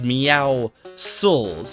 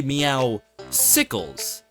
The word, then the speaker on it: Meowscles: His name is Meowscles, a pun on the word muscles and meow, you get it. However, there's apparently people that call this guy Meowsicles.